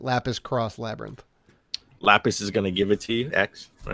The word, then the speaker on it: Lapis X Labyrinth: Lapis X Labyrinth, or Cross, I think is how you would pronounce that. Lapis Cross Labyrinth.